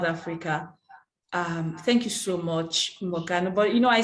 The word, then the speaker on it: Mokgano: It's Mokgano. It's the KG. It's together.